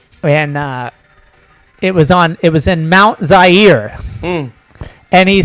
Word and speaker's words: Zaire: it was in Mount Zaire. And he said, coming to you live from Mount Zaire, some would pronounce it Zaire. They're wrong.